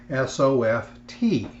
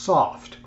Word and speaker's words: soft: Let's take for the first word here on the screen the word S-O-F-T. It's pronounced soft with the T pronounced. Some people will say soft.